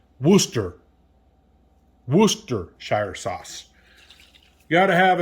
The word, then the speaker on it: Worcestershire: I used to say Worcestershire sauce. It's actually pronounced Worcestershire sauce.